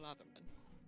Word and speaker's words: Latherman: Yeah, Lathman is how you pronounce it. Yeah. So, yeah, R.K. Latherman.